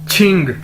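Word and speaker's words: 请: Next word है हमारे पास QING, छिंग। क्यू को हम छे के तौर पर, छतरी वाला छे के तौर पर प्रोनाउंस करते हैं, और इसका मतलब है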